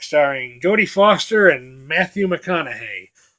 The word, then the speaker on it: McConaughey: Jodie Foster and Matthew McConaughey or as I used to pronounce his name when I first saw a time to kill McCann not hey I did not see